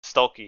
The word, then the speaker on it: Stuelke: I don't know how to pronounce her last name. Sorry, Hannah Is that Stulecki. Stokey? Stuelke, yeah, Hannah Stuelke.